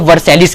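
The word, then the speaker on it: Versailles: एक बहुत बड़ा ट्रीटी साइन हुआ जिसको ट्रीटी ऑफ वर्सैलिस कहते हैं, कई बार इसको ट्रीटी ऑफ वर्सैल भी कहा जाता है, या अलग अलग प्रोनाउंसिएशन में होता है।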